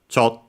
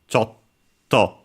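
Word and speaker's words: ちょっと: reminder like English uh you have to start uh pronouncing the consonant keep it and then release it. Chto Chto.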